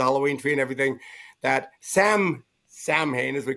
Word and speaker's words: Samhain: So Like Sam Hain. I think you were close enough. Well, I think Samhain is really pronounced Samhain. It's Celtic, so Samhainophobia, I would say.